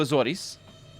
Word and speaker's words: Azores: was i went to azores that's how it's pronounced in portuguese i don't know how it said in english and um i spent